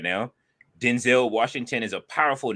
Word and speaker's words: Denzel: that he's all older and stuff that it's Denzel so I'm calling him Denzel from now one yes his name is pronounced Denzel Washington fair enough I don't think